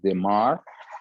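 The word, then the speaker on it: Desmarres: It's written DESMA-RRES, and it's pronunciated Demar, the one used in plastic or ophthalmic plastic surgery.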